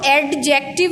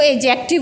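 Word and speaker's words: adjective: एडजेक्टिव, इसको एडजेक्टिव नहीं पढ़ना, इसमें डी साइलेंट है, इसको एडजेक्टिव बोलना है।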